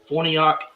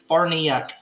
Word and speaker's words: Farniok: saying the players names his name has been one of the most butchered names because i've heard yak forniak farniak party apparently it's barniak so we just saw